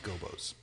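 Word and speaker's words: Gobbos: remember also 100 in croc legend of the gabo's and i can't imagine that that is aged well it's pronounced gobos oh yeah you've told me this many times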